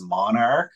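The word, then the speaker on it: MNRK: actually E1 is turned into MNR K which they pronounce as Monarch so okay so I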